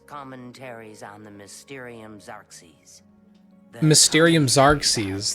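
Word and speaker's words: Mysterium Xarxes: Mysterium Zarks. That's how you say it.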